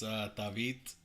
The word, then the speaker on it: Tavit: It's Tavit.